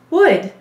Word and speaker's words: would: say would all right watch me carefully as i as we sound this out one option for you is to stay to spell woold that's woold that's really hard to say but what am i going to be telling you you're right there's a silent l so there's going to